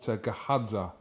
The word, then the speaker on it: Gahadza: With me, I'm joined by trainer and the owner of this gym, BURZOTTA, and also BAMMA fighter, GAHADZA. Have I pronounced that right, yes?